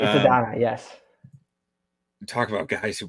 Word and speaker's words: Adonai: Did I even pronounce that right? Yeah, I always just you hear AD did. Mitchell. It's Adonai, yes.